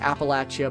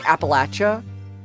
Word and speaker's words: Appalachia: I've heard it pronounced Appalachia by people from there. Appalachia. I like Appalachin. I like Appalachia. That's I think that's I think that's how I would typically prefer to pronounce it.